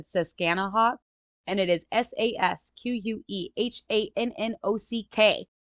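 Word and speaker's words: Susquehannock: because it I said siskanaha and it is s-a-s-q-u-e-h-a-n-n-o-c-k I might be pronouncing that wrong but that says scan a walk Indians the colonist and John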